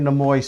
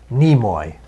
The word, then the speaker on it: Nimoy: This was done by Leonard Nimoy's son, who I guess appeared at a Star Trek convention a few weeks ago. I believe apparently. it's Nimoy.